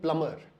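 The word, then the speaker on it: plumber: कि B silent है, इस शब्द में भी बी साइलेंट है। तो आप ये पूछेंगे कि भाई ये बी साइलेंट क्यों है, इसको हटा क्यों नहीं देते, तो एक बहुत बड़ी मिस्ट्री है जिसको शायद आज तक कोई सॉल्व नहीं कर पाया। इसको हम बोलते हैं प्लम्बर एंड नॉट प्लम्बर।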